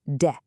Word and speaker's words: で: Pronounced D.